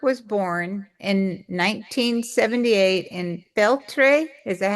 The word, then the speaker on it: Feltre: But Mauro Stemberger was born in 1978 in Feltre. Is that how you say it? Feltre, Yes, Italy? Feltre.